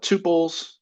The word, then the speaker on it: tuple: We'll talk about tuples. So if you see that word tuple, that is some people pronounce it tuple. I like to call it tuple, but that is going to be very similar to an array.